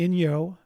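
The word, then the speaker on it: Inyo: it's in April and that's done by the Ino that's spelled i n yo the Ino National Forest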